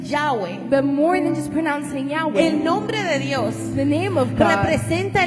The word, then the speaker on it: Yahweh: Entonces, este nombre, finalmente, los estudiosos hebreos nos han dado la respuesta de que se pronuncia Yahwe. Ese es el nombre de Dios. Pero mucho más allá de pronunciarse Yahweh, el nombre de Dios